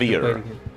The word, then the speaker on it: Wravyre: pronounced Oh, it must have stopped. Wravyre.